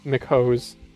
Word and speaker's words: McHose: It's been 30 minutes and I haven't shilled McHose. Marvin, get McHose G7. Mchose is the actual name pronunciation, but we say McHose because Mchose sounds dumb as hell.